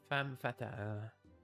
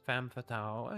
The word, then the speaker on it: femme fatale: In French, femme fatale. Or Americans say femme fatale. Yeah, it's kind of close, I guess.